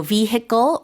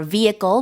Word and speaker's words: vehicle: i and be pronounced both are Acceptable pronunciations so vehicle or vehicle with silent h this ise of Trans